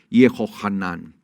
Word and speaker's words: Yohanan: que se llama Juan Cómo se dice Juan en hebreo yohanan sí yanan yanan o